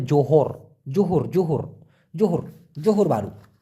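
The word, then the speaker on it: Johor: জোহর Bahru আছে না ওটাকে মূলত উচ্চারণ হবে যোহর জোহর জোহর জোহর জোহর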